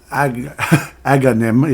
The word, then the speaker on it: Agahnim: The wizard Agahnim, yeah, I'm finally saying it correctly, has done has done something to the other missing girls.